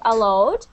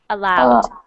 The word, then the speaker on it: aloud: would be more a better pronunciation to say allah allowed aloud much better much better